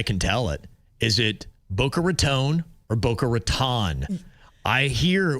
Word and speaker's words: Boca Raton: The right way to say it is Boca Raton.